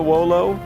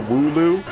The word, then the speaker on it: Wooloo: Same thing kind of happened to Wolo. Or Wooloo. Whichever way you wanna like pronounce it.